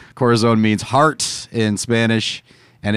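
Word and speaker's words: Corazón: the corazon i think is the probably the cortisone made by the cortisol see now you actually absolutely messed it up now nobody will know what it is well yeah that's why you have to spell it c-o-r-a-z-o-n corazon and this is the part i'm trying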